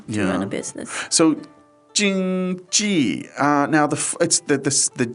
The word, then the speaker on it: 经济: It doesn't for some reason, but so it's first tone and it's fourth tone, right?